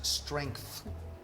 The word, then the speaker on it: strength: can confuse some people many people put the H before the T and it's after it's not an easy word to pronounce strength from strong from strong